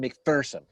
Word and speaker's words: McPherson: remember this he goes there is no fear in mcpherson that's what he used to say so what's big person that's how they pronounce it in gettysburg so i hope the